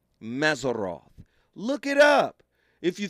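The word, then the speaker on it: Mazzaroth: I'mma spell it in English the way it is pronounced in Hebrew. Mazeroth.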